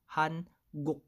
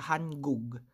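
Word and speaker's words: 한국: So, hanguk. Hindi po siya hangug. Okay? Hanguk. Okay? Nakuha ang ating letter K or G.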